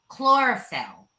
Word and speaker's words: chlorophyll: So they're filled with, I'm going to say this word wrong, but bear with me, chlorophyll. So You said it right.